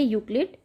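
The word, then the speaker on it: Euclid: ठीक है, तो इसमें ई साइलेंट है तो इसका आंसर सही है यूक्लिड।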